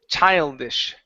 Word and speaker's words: childish: Give me that sh sound. Instead of this, it's shish. Childish. Childish. Okay. So, let's uh let's take a look at how to pronounce the sh sound. Okay. Uh right now uh you're pronouncing an s at the very end of that word. Okay. And you need to pronounce a sh like she. Okay. So at the end of the word we want to pronounce an sh.